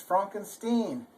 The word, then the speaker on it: Frankenstein: So if you remember in that movie, Young Frankenstein, where he kept saying, "It's Frankenstein." Well, that's because in German, it's spelled with an I-E, and so it's pronounced E.